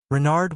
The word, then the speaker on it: Renard: is King Renard IV Renard with the accent on the r what's run asked button